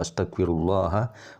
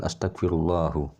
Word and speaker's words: Astaghfirullah: bagaimana hal itu terjadi kenapa harus dibaca astaghfirullaha bukan Astagfirullah jadi pengucapan Astagfirullahaladzim adalah hal